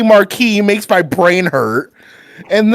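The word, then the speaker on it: Marquess: Biologically, he is That's a correct pronunciation of Marquee. That's confusing statement. Go away. I'm with DND. I'm sorry, Io. You are wrong. M A R Q U E S S. It's pronounced marquee.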